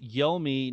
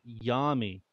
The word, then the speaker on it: Yomi: Oh, it's pronounced Yomi, not Yami.